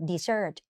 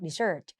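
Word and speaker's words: dessert: หวาน กิน แล้ว อ้วน มี S 2 ตัว อ่าน Desert เน้น ตัว หลัง Desert Desert เห็น มั้ย คะ ตาม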